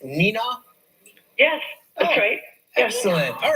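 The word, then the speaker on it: Neenah: who watches the show on wluk is it pronounced Nina yes that's great excellent all right you know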